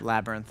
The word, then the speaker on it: labyrinth: How do you say that word? Labyrinth. Uh, is that it's not labinth. Laby. Labyrinth. Labyrinth. Why is there a Y in there? Labyrinth. Like lab. Labyrinth.